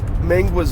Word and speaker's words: Mingua: Pepper, a liter Mountain Dew, a bag of natural style made from a solid piece of beef, hot seasoned Mingua's beef jerky. I don't know how to pronounce it.